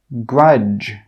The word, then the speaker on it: grudge: Some common examples of this are Wednesday, grudge, badge. You can see here that in all of these words, we're not pronouncing the D sound.